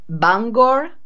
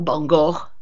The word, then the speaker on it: Bangor: fiume penn hop scott che si chiama bangor o bongo perché ci sono più pronuncia anche lì dove vive